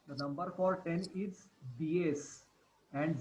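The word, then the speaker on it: diez: Okay, the number for 10 is DS and Z is DS.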